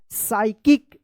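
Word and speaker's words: psycho: अब देखिए यहाँ पे पी एस YCHO, क्या पढ़ेंगे इसको? यहाँ पे भी एस से पहले पी आया तो पी साइलेंट रहेगा। साइको, जिसे आप मूवी वगैरह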